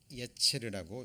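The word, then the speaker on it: יצר: 그래서 여기 보시면 이 심지라는 말의 원어가 이렇게 기록하고요, 예체르라고 읽습니다.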